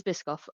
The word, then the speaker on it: Biscoff: I'm saying it wrong, but it is Biskoff. I don't say it right.